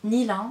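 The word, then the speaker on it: Nylin: Donc mon Facebook professionnel c'est plus loin Nilin. Donc ça s'écrit N-Y-L-I-N.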